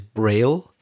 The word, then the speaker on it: braille: i double l e but the way we pronounce it in english is braille and i know it's named after louis braille